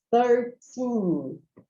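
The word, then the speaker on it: thirteen: 12, 13, esse é mais difícil de pronunciar, porque você tem o TH no início e o outro T normal depois, tá?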